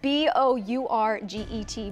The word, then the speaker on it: Bourget: The last name of Miranda quarterback is Trenton Bourget, is spelled right. B-O-U-R-G-E-T, but it is pronounced Bourget.